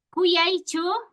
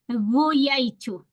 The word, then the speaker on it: kuyaichu: Hay momentos en que, por ejemplo, para decir Cuyaichu, no puedo decir Guyaichu, sino cuando está terminando al final, hay mayor probabilidad de que esté sonando como G.